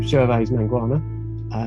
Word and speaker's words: Gervase Mangwana: So I'm Gervase Mangwana.